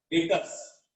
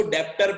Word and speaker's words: debtors: देखो डेटर ऐसे लिखते हैं, DEB, डेटर, डेटर्स। डेटर का स्पेलिंग ये है, बी साइलेंट है इसमें, डेटर का स्पेलिंग ये है DEBTORS। मैं भी जब 11वीं में था तब इसको डेप्टर पढ़ता था, डेप्टर ऐसा,